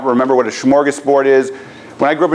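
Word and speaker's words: smörgåsbord: Swedish word my Swedish friend tells me it's pronounced schargus Bard which means Sandwich Board and it's basically Buffet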